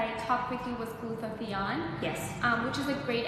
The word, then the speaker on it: glutathione: One of the things that I talked with you was glutathione.